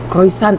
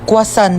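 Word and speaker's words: croissant: Croisant daw. Croisant? Ah quasant po.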